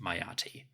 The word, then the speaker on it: Meritaten: Additionally, although Meritaten's name might have been pronounced Mayati, the hieroglyphic spelling was still Meritaten.